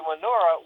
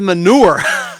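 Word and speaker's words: Murnau: I thought you said manure. But yeah, I know you're talking about, yeah. Well, it's spelled M-U-R-N-A-U, Manura.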